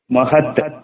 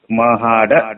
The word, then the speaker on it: ಮಹಾಡ: ಪರಿಚಯ ಆಗಿದ್ದಾರೆ ಅಂತ ಹೇಳಿ ಮಹದ್ ಅಂತಾರೆ ಮಹದ್ ಆದರೆ ಈ ಕಡೆ ಮಹಾರಾಷ್ಟ್ರ ಸಮಿತಿ ಇರತಕ್ಕಂತದ್ದು ನಮಗೆ ಗೊತ್ತು ಮಹಾಡ ಅದರ ಹೆಸರು ಇನ್ನೊಂದು ಹೇಳಬೇಕಾದರೆ ಮಹರ್ ಅಂತಾರೆ